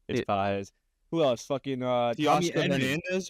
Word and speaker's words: Pages: For those of us that don't know how to say it, Andy Pages. Yeah, Pages, Pages. Yeah. I didn't know it was Pages until they started playing the Mets either, but it's Pages.